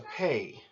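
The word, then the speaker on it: פ: of the Hebrew alphabet is a Pei Pei can occur with a doggish or without a doggish whenever you have it with the doggish it will make the P sound Papa and whenever you have it without the doggish it will make the F sound or the P H sound and then finally you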